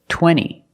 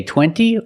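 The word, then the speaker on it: twenty: Or this word, 20. You can say 20 or you can say 20. Most Americans will say 20.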